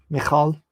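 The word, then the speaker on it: Michal: meth may ho maholophyte michael is pronounced mcall like that all right merav where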